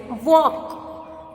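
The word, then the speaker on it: walk: तो यहाँ पे देखो फ्रेंड्स, वॉक, तो यहाँ पे वॉक है तो इसमें एल साइलेंट है इसलिए हम वॉक बोलते हैं।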